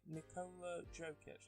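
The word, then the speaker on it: Nikola Jokić: And then most improved player is Nikola Jokic. That's how you pronounce it.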